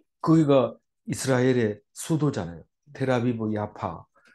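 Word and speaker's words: Jaffa: 쪽문을 문이라고 했어요로 가면 요빠 갈 때는 그쪽으로 해서 나가서 고장 가고 이렇습니다 그 그런데 지금은 거기가 이스라엘의 수도 아아 테라비 야파 우리는 요를 하지만 그 영어 발음으로 야파 합니다 야파 야파 해놓으니까 테라비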